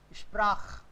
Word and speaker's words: Sprach: Kh or sh? It should be kh. Yes. It should be kh. Sprach. Kh. Why? Because before ch, a, o, u is there.